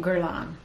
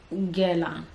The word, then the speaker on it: Guerlain: Okay, and then I've been saying Guerlain. But recently I've been like looking up perfume houses and how to say it in French, and it's like Guerlain. I'm sure I'm still butchering that.